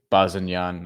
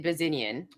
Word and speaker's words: Bazinyan: So Bazinyan, I don't know how to say his last name, to be honest with you. I mean, if you're from North America, I think you say Bazinyan. That's how I've heard it.